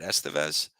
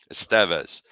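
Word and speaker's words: Estévez: I think for what we paid to get Estevez. Sorry, I'm saying it wrong. Like it's Charlie Sheen or Emilio Estevez, but Estevez.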